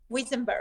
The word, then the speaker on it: Wiesenberg: Now, you got to help me with pronunciation in case I get it wrong. I'm a little dyslexic. Sylwia Wiesenberg? Wiesenberg.